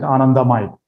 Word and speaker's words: anandamide: is another neurochemical called anandamide. I'm sure we Indians will pronounce it anandamide.